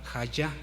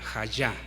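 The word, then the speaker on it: היה: Bien, esta palabra, hermanos, es clave porque del hebreo es la palabra hayá, J-Y, hayá, acento en la.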